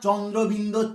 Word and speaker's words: চন্দ্রবিন্দু: আর এটা চন্দ্রবিন্দু চাঁদ নয়, চন্দ্রবিন্দু চাঁদ নয়, শুধু চন্দ্রবিন্দু, চন্দ্রবিন্দু।